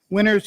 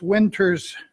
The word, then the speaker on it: Winters: to nurtured harvests LLC winners of apothecary LLC and I believe it's pronounced winters apothecary LLC any discussion hearing none